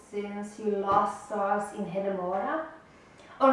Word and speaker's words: Hedemora: it not sure but i think hidemura is closer to what it should be than hadamarda i don't